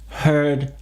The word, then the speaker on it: hear: Hear, heard, heard. Ici, il faut bien entendre le H et bien faire la diphtongue, le passage d'un son à l'autre. Hear.